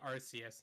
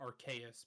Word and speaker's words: Arceus: the way that sounds i say arceus not archaius because yes i know what